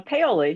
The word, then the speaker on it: Paoli: the program did i say it correctly uh paoli yeah you were failing that was good yeah